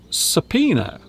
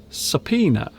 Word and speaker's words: subpoena: This is pronounced subpoena. Subpoena.